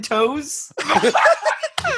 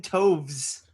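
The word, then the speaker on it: Toews: The W makes a V sound. Jonathan Toves.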